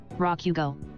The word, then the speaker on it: Rakugo: Rakugo.